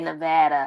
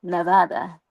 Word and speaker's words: Nevada: I say Nevada because it's a Spanish word, Nevada. So, yeah, it's a Spanish word. It means snowy, Nevada.